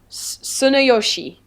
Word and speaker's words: Tsunayoshi: is it, you don't pronounce the T, do you, really? Or is it... It's like Tsunayoshi, something like that.